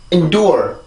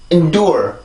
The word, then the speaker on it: endure: 자, 그러면 지금 여기에서는 이 음절의 끝이 N 발음이죠. 그죠? N 발음인데 여기에서는 소리가 강해지면 절대로 안 돼요. 왜 그러냐면 여기에는 지금 약한 강세가 들어가 있는 부분이기도 하고 이 N 발음이 음절의 끝이기 때문에 이런 식으로 소리를 내서 절대로 안 되고요. 아주 짧고 약한 소리로 소리를 마무리를 지어야 돼요.